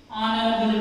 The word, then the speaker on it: honorable: An honorable man. An honorable man. Or an honorable person. Okay. See, here H is silent.